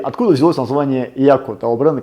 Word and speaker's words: Yacco: звучать по-американски и круто, то есть так и называли там Яко. Ну, по-французски это читается Yaku, поэтому будем сегодня в течение нашего всего видео называть бренд Yaku правильно.